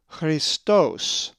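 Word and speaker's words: Χριστός: The accent is over the omicron, Christos.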